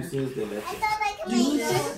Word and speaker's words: dulce de leche: Dulce de leche.